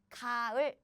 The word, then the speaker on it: 가을: But now you see there's no 받침 or final consonant, so this placeholder has no consonant to steal. So the pronunciation would be just 가을, 가을, 가을.